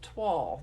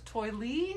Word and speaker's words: toile: the twelve tidings that's TOI l e pronounced twelve not TOI Li not TOI lay not toilet twelve tidings and it's got